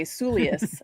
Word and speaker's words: Gotsulias: I always got Stacey got, and they'd stop and I'd say Gotsulias. And then they would say, oh, it sounds like it's spelled.